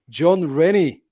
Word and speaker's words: Jon Rennie: the wait was worked because I'm here with John Rennie is that how I pronounce it John yeah that's it yeah you